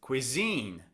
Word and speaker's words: cuisine: It's on the second syllable.